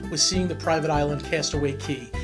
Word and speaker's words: Castaway Cay: seeing the Private Island Castaway key it's spelled Castaway K but but quickly I started to hear everybody say Cast Away key take a look at